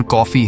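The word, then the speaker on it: Coffey: जिस पर जॉन ने कहा कि मेरा नाम जॉन कॉफी है पीने वाली कॉफी। लेकिन स्पेलिंग थोड़ी अलग है।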